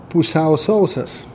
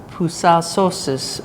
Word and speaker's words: pusiau sausas: And how do you pronounce that? Pusiau sausas. Pusiau sausas to be Sausas means dry.